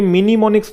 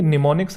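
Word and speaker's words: mnemonics: आई है निमोनिक approach यह मिनिममिक्स नहीं है कुछ बच्चे से मिनिममिक्स बोलते हैं निमोनिक्स है यहां से इसकी शुरू होता है एम जो है ये साइलेंट होता है यह आपकी क्या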